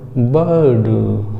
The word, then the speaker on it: bird: हो रहा है दोस्तों, आर साइलेंट है। और पढ़ेंगे क्या हम इसको, बर्ड। कैसे, बर्ड। बा को थोड़ा सा लंबा खींचेंगे और उसके बाद डा बोल देंगे, बर्ड नहीं दोस्तों, बर्ड नहीं, बर्ड, बर्ड। ठीक है, समझ रहे होंगे।